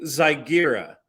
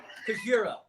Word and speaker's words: Kijira: I'm saying Zygira. What is that right? Kijira. Kijira. Yeah. Kijira.